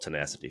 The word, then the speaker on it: Tenacity: Let's just call it tenacity for the average person. Tenacity. Should get that I put the emphasis on the wrong syllable.